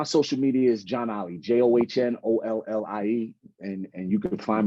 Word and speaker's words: John Ollie: media um if you type in my name John Ollie which is spelled j-o-h-n-o-l-l-i-e just like that j-o-h-n all one